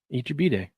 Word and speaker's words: Eat Your Bday: Eat your Bday. That's how you pronounce it. I always remember it because uh SD14 fan used to say, "It's your birthday."